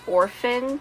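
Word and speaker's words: Orfyn: The other main character, his name is Orphan, except it's spelled O-R-F-Y-N, but he's an actual orphan and he's an incredible artist.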